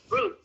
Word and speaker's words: rude: Rude, bacanya rude. R kan, huruf R itu kan dalam bahasa Inggris kita tidak menyuarakan secara jelas rude gitu kan, enggak ya. Makanya kita setengah R doang, rude.